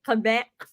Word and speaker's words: Quebec: That's how you say it, Quebec.